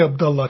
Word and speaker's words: Abdullah: Technically Abdullah, because it's from an Arabic background. But honestly, I'm cool with either pronunciation.